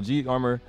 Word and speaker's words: G Armor: So G Armor number 45, that's how you say it, not G number 45.